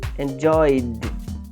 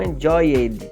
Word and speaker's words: enjoyed: Y, enjoy, enjoyed, enjoyed. E não enjoyed, tá? Enjoyed.